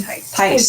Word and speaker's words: Thies: Okay, she said it's pronounced like Tyson without the O. Okay. Tice.